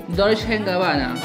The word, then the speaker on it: Dolce & Gabbana: Dolce & Gabbana.